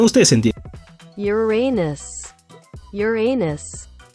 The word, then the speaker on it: Uranus: También el chiste de Urano, donde en inglés Urano suena exactamente igual a tu ano. O sea, no específicamente al tuyo, sino a la pronunciación. Ustedes entienden. Uranus.